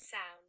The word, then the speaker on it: Samhain: It's a Celtic festival known Samhain. Some. I think so. Pronunciation. Sound. Is that correct? Sound. Sound. Okay. Sound. So it's sound.